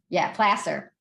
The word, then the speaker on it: Placer: Placer, which is spelled like placer, drives me crazy.